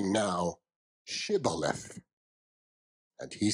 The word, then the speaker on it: Shibboleth: If he said, nay, then they said unto him, say now, Shibboleth. And he said, Sibboleth, for he could not frame to pronounce it right.